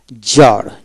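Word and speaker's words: czar: তবে শব্দের সংখ্যা কম সি জেট জার জার সির উচ্চারণ হবে না জার জারিনা সি জেড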